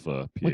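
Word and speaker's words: phở: make my own fuss some people pronounce it pho but that's wrong it's technically pronounced for what people don't Vietnamese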